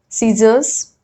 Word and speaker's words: scissors: C is generally not pronounced in the combination SC. So when S and C are put together in a word, we generally pronounce it as S.